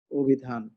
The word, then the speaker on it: অভিধান: এই দেখো স্বরের পরে হ্রস্ব ইকার আছে। এই কারণে স্বরেটা ওকারের মতো হয়ে যাবে। উচ্চারণ তুমি কি করছো? অভিধান। এইভাবে। অভিযান।